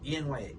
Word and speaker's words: Enya: Enya. How do you say it? Enya? Enya. E-N-Y-A. E-N-Y-A.